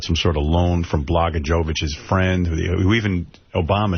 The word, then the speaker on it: Blagojevich: It was Senate for sale in Illinois, where Governor Rod Blagojevich... How do you say that guy's name? Blagojevich.